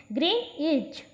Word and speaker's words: Greenwich: Greenwich, through it is spelled that way, is pronounced Greenwich with accent on green.